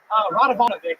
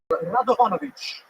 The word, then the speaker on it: Radovanovic: Ranovich. Hello. Am I saying that right? Radovanovic is the right way to say it, and if you want to be all fancy, you can say Radovanovic.